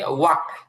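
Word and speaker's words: walk: এরপরে হচ্ছে ওয়াক, ওয়াক হাঁটা, এখানে এলটা আর উচ্চারণ আসবে না।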